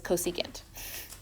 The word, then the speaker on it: cosecant: when they're shortened so don't say for this that is cosecant don't say SEC this